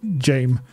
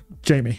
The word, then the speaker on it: Jamie: Is it pronounced Jamie or Jame? Jamie. It's just Jamie.